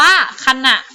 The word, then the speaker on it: ขณะ: เลย ค่ะ คำ ว่า ขณะ ค่ะ ขณะ นะ คะ เป็น อักษร นำ นะ คะ เวลา เรา อ่าน ออก เสียง คำ ว่า ขณะ ก็ เพราะ ว่า นะ มี หอ นำ หน่อ เห็น ไหม ขณะ